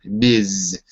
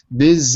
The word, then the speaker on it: Ms.: Armstrong, MS stands for Ms. with a Z, Z sound, Ms. Ms.